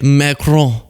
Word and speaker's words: Macron: See, some of you guys think I'm being silly when I go Emmanuel Macron. But it's real. This is a French reporter. That's how you say it. Macron.